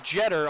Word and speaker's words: Jeter: by Tamika Williams-Jeter, and that is Jeter, although it's spelled similarly as the famed Yankee great Derek Jeter, but it's not Jeter, Madi, as we came to learn just Jeter.